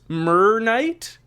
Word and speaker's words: MrrKnight: me how to say their name so it's myr Knight W welcome to the show hey thanks for